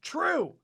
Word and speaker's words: Trieu: pop to15 who said it's pronounced true true stop saying it the wrong way and then they give